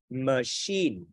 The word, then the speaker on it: machine: Máy móc đọc machine. Nhấn âm 2 giùm thầy. Và sẵn thầy nói luôn. Cái chữ CH này chúng ta đọc là sh. Chứ không phải là chờ đâu nha.